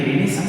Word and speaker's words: Renaissance: पुनर्जागरण को इंग्लिश में रेनेसा बोलते हैं।